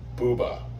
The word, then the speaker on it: Bube: And Eloise Bube said Buba over the spirit box, which is the proper German pronunciation of his name.